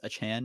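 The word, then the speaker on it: Achane: Kavon, I think he wants his name pronounced Achan now.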